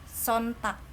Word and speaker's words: Sonntag: Terus ini der Sonntag, G jadi K. Kecuali kalau misalkan ada sih orang yang ngomongnya Sonntag itu untuk ke apa namanya tuh, sebelahnya negara Jerman.